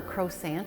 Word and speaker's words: croissant: Americans, croissants. And in France, it would not be, you could order a croissant and they'll probably give it to you, but the proper pronunciation, the French way, is croissant.